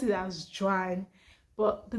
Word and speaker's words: Joan: j o a n what i call i pronounce it as gian but the name has um hebrew english and french origins and it is pronounced as joan in those clients but my parents are nigerians